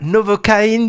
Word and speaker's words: Novocaine: Alors la novoine du titre Novoine prononcé à l'anglaise, c'est le nom commercial